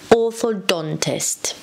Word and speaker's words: orthodontist: The stress is on the D, orthodontist.